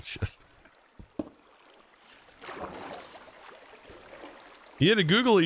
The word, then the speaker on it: schist: hold on um shist oh it is shist it's not pronounced that I don't think I don't think it's pronounced shist okay it is pronounced shist